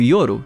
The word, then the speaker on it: Yor: significa Crepúsculo já que em japonês yor se pronuncia como yoro que significa noite Porém isso foi só